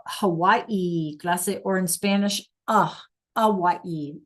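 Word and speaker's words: Hawái: A Hawaii. The H is silent.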